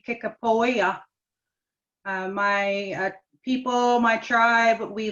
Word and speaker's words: Kickapoo: side of the family he's kickapoo or the correct pronunciation would be kickapoya my people my tribe